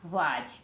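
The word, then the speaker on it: was: रहे हैं बन गया वाज क्या बन गया वाज है ना अब कुछ लोग कह रहे होंगे बाराखड़ी के अकॉर्डिंग तो हम इसको वास पढ़ते हैं लेकिन कुछ रूल्स होते हैं भाई स्पेलिंग पढ़ने के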